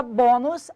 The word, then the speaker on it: bônus: Basta você observar, então, na palavra bônus, a sílaba tônica é o bo.